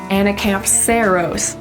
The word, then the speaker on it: Anacampseros: This little guy really well illustrates where to put the emphasis in words in Latin. And it's basically always gonna go on the second to last syllable of every word.